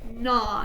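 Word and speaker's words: gnaw: three two one wrong so remember GN we forget the G and it's a three to one nah so nods like chewing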